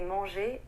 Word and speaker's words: manger: The S in the word vais, the R in the word manger, and the T at the end of restaurant are all silent letters. We don't actually pronounce them in French.